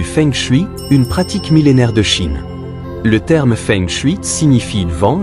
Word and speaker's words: Qi: une pratique millénaire de Chine le terme fengchu signifie vent et haut symbolisant la fluidité et la vitalité du Qi ou énergie vitale QI prononcé Chi est un concept central